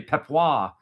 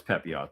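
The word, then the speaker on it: Pepiot: You got to admit when you say Pepois, it it sounds fancy. I know it's Pepot, though.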